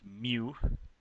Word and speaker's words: mu: oh and there's a symbol for that it's pronounced mu the expected value when you're just saying okay